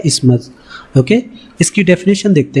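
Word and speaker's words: isthmus: इसका प्रोनाउंसिएशन कैसे होता है? इस्मस, ओके।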